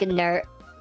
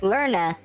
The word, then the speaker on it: Lerna: This resides in Lake Ner. There's my pronunciation issues. Lake Lerna near ancient Argolus, city of Argos.